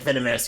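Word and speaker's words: Venomys: Yes, I named her Venomous, it's spelled like Venom it's spelled with Venom with a Y-S at the end. So it's like Venomous, yeah.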